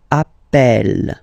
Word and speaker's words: appelle: So when you get this E vowel, and then you get a double consonant, and well, they are the same, then it does change the pronunciation of E.